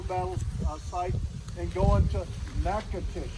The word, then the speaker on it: Natchitoches: and go into Natchitoches I'll teach you how to spell it it makes six weeks to get that down right it'll be on the map but you won't spell it the way it sounds uh from there we're